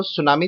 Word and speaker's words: tsunami: Students, ये T silent रहता है, ध्यान में रखना। तो सुनामी चैप्टर पढ़ाने जा रहा हूं।